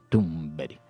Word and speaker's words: Thunberg: hasta el final porque alguien decía que no se pronuncia así. A ver, que lo está diciendo un sueco, que no lo estamos diciendo nosotros. Estamos siguiendo el ejemplo de los suecos. Luego nos escribió incluso un oyente y nos decía cómo se pronunciaba. Nos puso un mensaje de WhatsApp y era así, era Greta Thunberg.